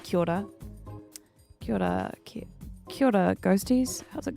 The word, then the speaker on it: Kia ora: Yeah, it's like Kia order, but it's pronounced Kia ora.